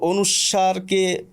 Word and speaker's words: অনুস্বার: বলা হয় তো অনুস্বারকে অনুস্বার অনুস্বার অনুস্বর দেখুন দুটো দুটোই কিন্তু শুদ্ধ এবার ব্যাপারটি হচ্ছে কোনটি